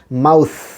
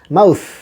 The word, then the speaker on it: mouth: এবারে আসেন MOUTH আমরা বলি মাউথ, উচ্চারণ যেন আর ভুল না হয় আমাদের, মাউথ, মাউ তার সাথে সা, মাউথ।